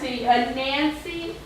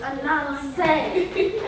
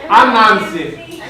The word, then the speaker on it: Anansi: A Nancy. Anansi. You just said a Nancy. See, no, you pronounced it wrong. It's Anansi. Anansi.